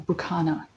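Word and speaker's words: Berkano: Okay, now find Burkano. Or Burkana, as it says. There's some variations with rune pronunciation, but they're all the same runes. It's just different dialects, different times.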